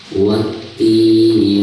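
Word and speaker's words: والتين: Jadi dari bacaan wa langsung ke ti ya, langsung ditasydidkan. Wati.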